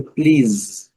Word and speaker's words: please: Outra palavra bastante conhecida, please. Aqui o S já tem o som de Z, please.